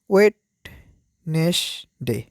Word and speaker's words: Wednesday: টুয়েসডে মানে কি মঙ্গলবার তারপর কি রয়েছে বুধবার ওয়েট নেস ডে ওয়েটনেস ডে হচ্ছে বুধবার ডাবল ইউ ই ডি